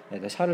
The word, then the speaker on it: 샤를: 이거 좀 발음을 정확히 하셔야 됩니다. 샤를 10세예요.